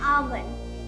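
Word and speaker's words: almond: एल होता है इसमें लेकिन ये साइलेंट होता है। इसको पढ़ते हैं आलमंड।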